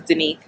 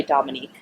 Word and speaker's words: Denise: my name wrong so my name is denise and a lot of people say dominique which i hate and after about a